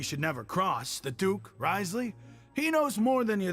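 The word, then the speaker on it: Wriothesley: You've already met the one person here you should never cross, the Duke, Risley. He knows more than you think. And if he doesn't care about Rightly, something, then अच्छा ऐसे he इसको pronounce often करते हैं.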